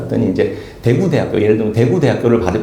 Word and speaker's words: 대구대학교: 이렇게 했을 때 북도는 강세 억양이 대구에 있어요. 구. 그래서 대구대학교 이렇게 제가 따라하지를 못하겠는데 대구대학교 이렇게 발음하는데 대구대학교 이렇게. 그리고 그 남쪽에 그 부산, 특히 부산은 맨 앞에 강세가 있다는 거예요.